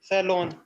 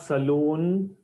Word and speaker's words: salon: long hairs yes sir the pronunciation of this word is not Saloon please remember guys especially not Saloon Salon l o n not l o o n Saloon the haircut will cost